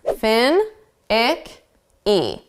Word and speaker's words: finicky: Finicky is probably a new word in your vocabulary, so let's focus on the sounds. Fin, ick, e. Now, we're going to put the syllable stress on the first sound. Fin, finicky, finicky, finicky.